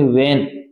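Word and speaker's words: when: वेन your, ये W के बाद H आता है, कभी भी याद रखना W के बाद H आता है, वो H हमेशा क्या रहता है भी साइलेंट रहता है, क्या रहता है भी साइलेंट, मूक शब्द बोलते हैं इसको, क्या बोलते हैं भी मूक। इसमें ये वेन है, इसको इसको इस प्रकार बोलेंगे वेन, वेन यूर, जब भी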